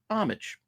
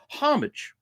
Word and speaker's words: homage: as as opposed to over in the UK you will pronounce the h and it would be homage so you got homage